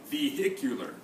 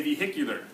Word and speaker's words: vehicular: H is silent but for this word you say vehicular you say the H for that vehicular for the word family everybody say vehicular vehicular everybody say vehicle